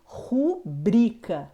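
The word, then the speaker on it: rubrica: intuito ibero recorde rubrika lembrando dando uma atenção especial essas duas últimas palavras é recorde e rubrika são palavras paroxítonas e por último temos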